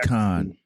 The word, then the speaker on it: Khan: to mispronounce it, but is it Kane or Khan or Khan? Yeah, Khan.